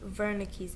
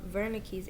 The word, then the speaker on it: Wernicke: and the other is wernicke's area it's a w but he's german so it's pronounced with the v broca's area is located